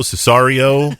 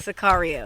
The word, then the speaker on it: Sicario: We've already got done reviewing the movie Cesario. How do you pronounce that? Sicario.